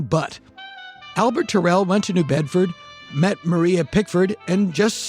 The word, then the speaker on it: New Bedford: At least he was, until a fateful trip to the nearby port town of New Bedford, or New Bedford, as it is pronounced there.